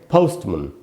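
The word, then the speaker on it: postman: और दूसरा जो हिस्सा है मैन वाला, उस पर स्ट्रेस नहीं है, इसीलिए यहाँ इस ए को आधा अ की तरह यानी श्व साउंड की तरह पढ़ा गया, इसलिए इसको हम पढ़ेंगे पोस्टमन।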